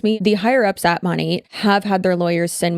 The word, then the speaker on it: Monat: Now, since 2020, we have been following the multi-level marketing company Monat, which stands for Modern Nature. That's why it's called Monat instead of Monet or Monat, because these goddamn illiterate